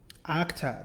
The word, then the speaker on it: Okta: Okta, that's how you say it.